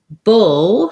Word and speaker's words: bull: Bull has my vowel. So it has the same vowel sound as in push and pull.